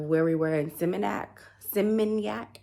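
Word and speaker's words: Seminyak: we were in simac simoniac I may be saying it wrong but it's s e m i n y a k that's how you say it um it's kind of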